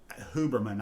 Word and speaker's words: Huberman: Huberman, I think I heard somebody mention his name this morning. It is, you do pronounce the H, but he's like this just really fascinating neurobiologist.